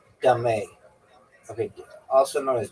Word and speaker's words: dame: End game players alternate alternately place stones on the neutral points intersections adjacent to both player stones also known as dame pronounced dé. Okay, also known as dé.